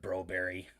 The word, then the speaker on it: Broberg: gonna have expectations for call broberg bro berry because that's what the call to hockey does and they say that's how his name is pronounced and then woodcroft in